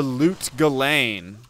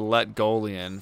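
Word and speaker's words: Lut Gholein: Or the Loot Galane. Yeah, I called that the Letgolian for the longest time. I ain't gonna lie. I called that Letgolian for life.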